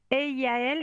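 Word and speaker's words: Eyaël: Eiaël qui Elle, s'écrit oui, oui.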